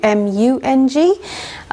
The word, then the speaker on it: mung: with today is called mung, and it's spelt in two different ways, sometimes with a double O, M-O-O-N-G, and sometimes with a U, M-U-N-G, sometimes pronounced mung bean, or in India it's called mung.